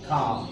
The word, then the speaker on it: calm: কাম। তাহলে এটা হবে কাম। যদি এটার স্পেলিং কি? CALM, কিন্তু এখানে এলটা কি হবে? সাইলেন্ট। এলটা উচ্চারিত হচ্ছে না। তুমি বলছো কাম, তুমি কাম বলছো না, তুমি কি বলছো?